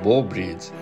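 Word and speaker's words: Bow Bridge: প্রেমিক প্রেমিকাদের অতি পছন্দের এই ব্রিজটির সঠিক ইংরেজি উচ্চারণ আসলে বো ব্রিজ, আর অবস্থান যুক্তরাষ্ট্রের নিউ ইয়র্ক শহরের সেন্ট্রাল পার্কে।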